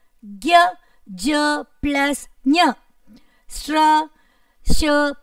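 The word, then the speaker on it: ज्ञ: In Hindi, we pronounce this in the way gya. It is not Nya, it is gya.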